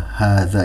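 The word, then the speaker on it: هذا: Nah, baik, sebagai penjelasan tambahan bahwa hadza ini kenapa di situ haknya tidak ada alifnya tapi dibaca 2 harokat. Nah, karena huruf alifnya itu disembunyikan. Ya, seharusnya ha, alif, zal, alif. Nah, jadi karena dihilangkan tapi membacanya tetap harus 2 harokat. Hadza.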